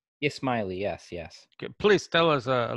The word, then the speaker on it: Ismaili: particular group or sect of, I believe you pronounce it Ismaili? Ismaili, yes.